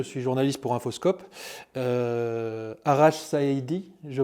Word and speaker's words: Saïdi: Arash Saïdi, je prononce bien?